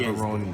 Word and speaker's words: Gaborone: I call it Yes, Gaborone. that is how it's pronounced.